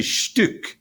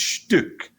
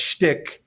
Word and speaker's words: Stück: It's actually Stück. In German, it's the U with an umlaut. It's Stück, which is a piece. Yeah, a piece of something. And then in Yiddish, it's pronounced Stück.